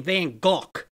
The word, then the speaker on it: Van Gogh: just so you know the hollandaise claim you're supposed to pronounce his name Van Gogh but